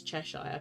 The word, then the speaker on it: Cheshire: But I'm like, it's not Cheshire, it's Cheshire. Like an ear on your head.